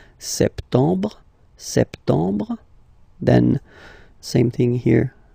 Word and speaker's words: septembre: So, septembre, septembre, septembre. Remember this E-M en septembre. Br, br. You don't insist on the final E. Septembre.